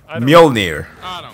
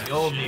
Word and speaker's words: Mjolnir: Why do they spell Mjolnir with a J? Mjolnir. Norse. Mjolnir. We pronounce that as a Y.